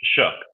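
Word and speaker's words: Shough: on uh uh and I've heard it shuck. I've heard Shug. I don't know how to pronounce his name. I really don't. What' you say, James? Shug. It's Shook. Shook. Right. That's what I thought. It seems weird to say Shuck.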